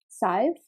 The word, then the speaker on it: Scythe: than that i played a bit of scythe size yeah yeah scythe how do you spell that s-c-y-t-h-e i've never heard of it